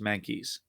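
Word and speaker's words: Mahnke: fan of doug i i believe it's pronounced monkeys um art on superman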